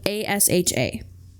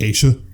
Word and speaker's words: Asha: her name was spelled a s h a you would think she pronounced it asa it was Asa and she said one